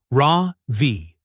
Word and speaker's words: Ravi: And Ravi's name has stress on the second syllable, Rav V.